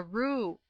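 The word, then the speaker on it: roué: Oh yes, a Roo. At least it's spelled R-O-U-E. That must be Roo all right.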